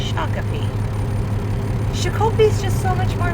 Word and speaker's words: Shakopee: Yeah, we're out here in Shakopee, Minnesota, don't you know? And before all you Minnesotans are like, it's not pronounced like that. I know. It's Shakopee.